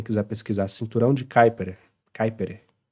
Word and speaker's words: Kuiper: Kuiper. O pessoal fala Kuiper, né? Kuiper. Tipo, fala rápido assim e plum.